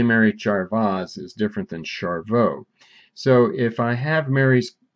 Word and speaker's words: Charveaux: has a problem with the z is silent it's actually french but uh siri well you listen for yourself send a message to mary charveaux okay what do you